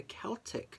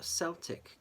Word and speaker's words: Celtic: It's either like, because there's two ways of pronouncing this. So it's either Celtic Tarot or Celtic Tarot, depending on, how you want to pronounce it.